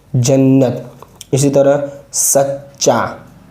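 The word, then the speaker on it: جنّت: अब ये देखिए मिला हुआ ये, इसकी जो मिलावट इस तरह बन जाएगी जन्नत, नून पर तशदीद है, ता तो साकिन ही है पहले से, जन्नत।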